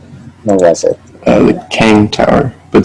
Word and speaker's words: Kang: Kang. It's pronounced like King the Conqueror because it's like run by him secretly.